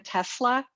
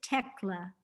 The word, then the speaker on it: Tecla: And I was very moved by your story too of, can you say her name again? Tesla? It's Tecla.